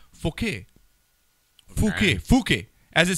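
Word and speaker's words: Fookey: like because it's pronounced Fouquet. Fouquet. Fouquet. As it says here, F-O-O-K-E-Y. So Fouquet? Fouquet. Fouquet. Fouquet. Not fuck, Fouquet.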